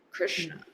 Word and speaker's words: Krishna: Shna, shna, Krishna. That's why number 3, the sh down here, the sibilant that we're using, sh, is in the same. It's a cerebral sh, shna, shna.